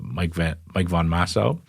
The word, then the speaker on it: Von Massow: We're going to speak to Mike Von Massow. Did I pronounce that right?